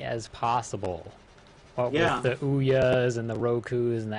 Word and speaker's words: Ouya: be the size of oua it's not going to be the size of aoku oh yeah Dam it what how is it pronounced it's Ouya like booya out the be okay